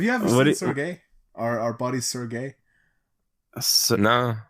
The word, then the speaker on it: Sergey: not Sir Gay.